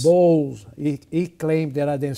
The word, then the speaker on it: Bowles: pronounce your last name it is Bowles b-o-w-l-e-s balls he claimed that I